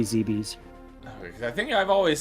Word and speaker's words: Zebes: the planet oh um I believe it's supposed to be zbi I know I know there's like a million pronunciations for and I was always worried about that too but I'm pretty sure it's supposed to be zeb's I think I've always